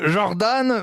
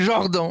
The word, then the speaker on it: Jordan: jordan bardella alors moi je ne dis pas jordan mais je dis genre dont n'est ce pas je prononce à la française je dis même jordan